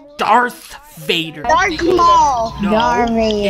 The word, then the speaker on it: Darth Vader: worry I'll give us a the Boost backfire Dar Vader it's not Dar Vader it's Darth Vader Darth Vader no it's not Dar Vader it's Darth Vader dark Mall Dar Vader it's not dark ma